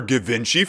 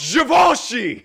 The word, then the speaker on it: Givenchy: did you know that John gallano designed for gavinci for two seasons in this hypothetical Tik Tok they are mispronouncing javoni as engagement bait we opened the